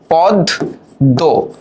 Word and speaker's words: পদ্ম: উচ্চারণটা আমরা করি কিভাবে পদ দ। তার মানে দেখো ম এর উচ্চারণ হলো না।